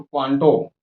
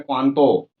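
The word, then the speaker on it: 関東: देखिए इंग्लिश में तो क्वांटो, जापानी भाषा में क्वांतो, थोड़ा नाक से साउंड आता है तो प्रोनाउंसिएशन में तो अंतर आएंगे ही।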